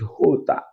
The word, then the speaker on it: jota: J is not pronounced as J in Spanish. It's pronounced as H. Are you seeing the differences? This is very simple. Just walk through as I'm walking through it now. So you will understand it very well. J is pronounced as H. It has an H sound.